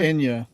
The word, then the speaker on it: Enya: Some of it's Anya? quite Anya some- or Enya? Enya- Well, how do you Enya. pronounce it? Enya? Enya.